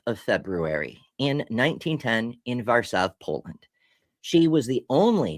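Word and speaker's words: Warszawa: The name of the city is Varsav because the W's are actually V.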